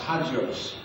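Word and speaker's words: ἅγιος: And the word holy in the Greek is pronounced hagios.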